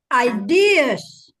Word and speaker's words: ideas: Ideas. Ideas. Ya, berapa kali, tiap kali kuliah diucapkan lagi salah. Ya, ideas. Last one, Stress there is on D.